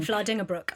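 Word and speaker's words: Vlaardingerbroek: Um, I need to I always get her name wrong. Vlading Brook.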